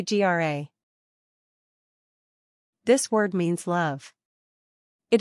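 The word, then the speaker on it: grá: say Gra this word means love it is pronounced gra it also rhymes with the English word Raw this word is sometimes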